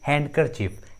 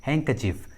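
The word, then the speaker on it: handkerchief: बहुत सारे स्टूडेंट्स इस इंग्लिश वर्ड को प्रोनाउंस करते हैं हैंडकरचीफ, हैंडकरचीफ which is absolutely incorrect, इसका सही उच्चारण होता है हैंकचीफ, हैंकचीफ, डी साइलेंट होता है।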